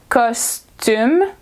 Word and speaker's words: costume: either be custom so it's the same word in English we just pronounce it the French way so it's costume because tomb and custom